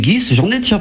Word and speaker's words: Ghys: Le secret de Guy de Ponthieu, par une certaine Céline Guis. Je ne sais pas si je prononce bien son nom de famille. C'est exactement ça, c'est Céline Guis.